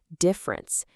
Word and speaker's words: difference: Deference, with that E sound at the beginning, deference, is about respect. Difference, with that I sound, difference, means things are not the same.